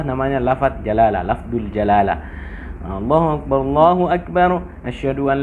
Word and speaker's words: Allah: Ada waktu kita membacanya dengan tipis apabila huruf sebelum lafaz Allah berbaris bawah. Misalnya Bismillah, tipis. Bismillahirrahmanirrahim. Bismillah. Tapi kalau kita sebutkan Muhammadur Rasulullah, tebal. Rasulullah, kenapa berbaris atas?